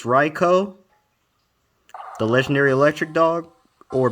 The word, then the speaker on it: Raikou: It's a beast, but it's Raikou. Raikou. That's how you say it in Japanese. I got flamed before on that.